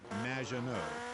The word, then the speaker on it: Maginot: It's Madge, which rhymes with badge, as in duh, and no as in more than you. Maginot.